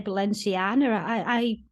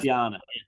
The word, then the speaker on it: Balenciaga: I just say Balenciana. That's, Balenciaga.